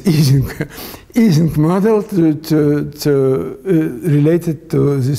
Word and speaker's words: Ising: So the Americans say Ising, but in fact it's Ising.